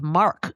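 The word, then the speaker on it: marque: Oren asks, "With cartel violence in the news, I've heard talk of the government issuing letters of mark. Of course, that's spelled m a r q u e.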